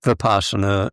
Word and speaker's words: Vipassana: Yeah, Vipassana is how we usually pronounce it.